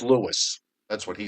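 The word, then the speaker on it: Lewes: A A Y T on the chat board says it's pronounced Lewis. That's what he says. Um, okay. I take your word for it. It's Lewis.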